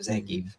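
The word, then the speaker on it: Zangief: Z like right and it wasn't until Wreck-It Ralph yep when zangie said his own name that it was like established that is the pronunciation of zangie and yeah sometimes it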